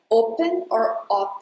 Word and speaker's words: open: First thing is: pay attention to this O because you have to add a U sound right after O. Open not just open you have to say open, open.